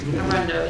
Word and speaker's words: Arundo donax: Parks and Wildlife Department contractors to spray the Arundo Donax. Is that how you say it? Close enough. Arundo? That's good. Arundo, yeah.